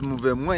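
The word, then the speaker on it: mouvement: Then it says move mwa yakini balanda basuka wapi. Move mwa, the spelling is movement, but it, in French they pronounce it as move mwa.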